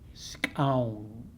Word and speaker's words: Skxawng: Scown. It's spelled Skxawng.